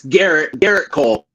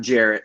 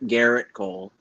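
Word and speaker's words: Gerrit Cole: It's Garrett Cole, not Jarrett. Garrett Cole. Oh, okay. What did I say? It's a subtle pronunciation key.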